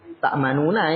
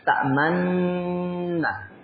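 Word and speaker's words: تأمنّا: Taib ini jadi kalau bacanya tidak tak perlu ta'manuna tapi ta'manna. Jadi moyongkan dulu itu namanya ismam.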